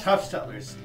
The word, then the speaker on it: Huffstutler: say your last name it's Huff stutler Huff like Huff puff then just like you're going to stutter except throw a nail stutler stutler saidler Sor where